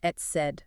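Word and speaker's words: etcd: It's pronounced et cetera.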